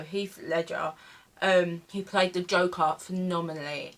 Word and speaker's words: Heath Ledger: I think that's how you say his name. I always get this wrong. Heath Ledger or it's not Heath Legend. I wish. No, Heath Ledger.